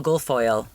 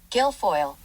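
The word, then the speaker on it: Guilfoyle: Paul Gulfoil Geoil the guy from CSI. I was able to call on some help in the form of Google. How do you pronounce this? I also realized there's an L in his last name, so I don't know where my mind is at. Gilfoil. Gilfoil.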